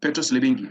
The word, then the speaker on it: Petros Libingi: Petros, you have a very unique name, Petros Libinji. Is that the correct pronunciation? Yeah, Petros Libingi.